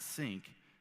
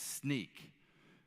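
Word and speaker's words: Snyk: It's not Sync, it's Sneak.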